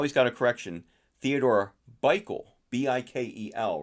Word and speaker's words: Bikel: um but how he's got a correction Theodore bikel b-i-k-e-l right is that is or is that how you it's Bickle turn out with a bike b-i-k-e-l so I